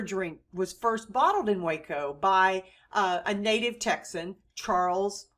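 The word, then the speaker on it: Hueco: on the site of the waco spelled in spanish h u e c and pronounce waco indian village near a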